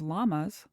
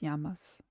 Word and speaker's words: llamas: Unfortunately, every time I see the word llamas, my brain goes llamas. It's llamas.